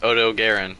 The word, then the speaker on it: Odogaron: But it's actually pronounced Odogaron because it's a Japanese company.